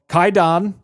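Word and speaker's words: Kwaidan: And this movie is called Kaidon. It's spelled Quaidon.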